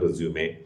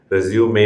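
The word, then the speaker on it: résumé: മാത്രം ഉപയോഗിക്കുന്ന ഒരു വസ്തുവാണ് റെസ്യൂമേ റെസ്യൂമേ എന്നാണ് അത് ഉച്ചരിക്കുന്നത് റെസ്യൂം റെസ്യൂം എന്ന് ഉച്ചരിക്കുന്ന ആൾക്കാരുണ്ട് അതല്ല റെസ്യൂം എന്ന് പറയുന്നത് വേറൊരു ഇംഗ്ലീഷ് വാക്കാണ് നിർത്തിയിട്ട് തുടരുക എന്നുള്ളതാണ് ഇവിടെ റെസ്യൂമേ എന്നാണ് അതിന്റെ ഉച്ചാരണം ഈ റെസ്യൂമേയും സിവിയും തമ്മിലുള്ള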